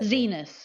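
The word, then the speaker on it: Xinis: Zenus is the way she pronounces her name.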